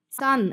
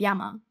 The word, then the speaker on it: 山: The Middle Chinese pronunciation was shan. This becomes shan in Chinese, san in Japanese, san in Korean, san in Cantonese, and sun in Vietnamese. The Japanese also have their own reading of yama.